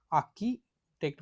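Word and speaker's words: architect: manager so आर्किटेक्ट आर्किटेक्ट आता आर जो म्हणतो त्याला ए आर त्या आरचा जास्त उच्चार करायचा नाही आकीटेक्ट म्हणायच काय म्हणायचं आकीट म्हणजेच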